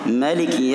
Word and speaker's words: maliki: Kata Imam Ibnu Katsir, qara'a ba'dhul qurra' maliki yaumiddin, sebagian qurra' ada yang membaca dengan maliki, artinya namanya pendek.